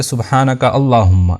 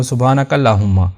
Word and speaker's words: سبحانک اللہم: ساتھ ادا کریں گے۔ بعض لوگ اس کو سختی کے ساتھ نہیں ادا کرتے، وہ سبحانک اللہم یعنی بغیر سختی کے اس کو ادا کر دیتے ہیں۔ تو صحیح تلفظ ہوگا سبحانک اللہم۔ اس کے بعد میم